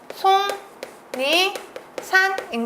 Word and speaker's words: 속리산: 117번 답은 1번이 되겠네요 속리산 반음은 송니 산인 거 보이시나요 송 니산 잘 요 양주시시는 앞이랑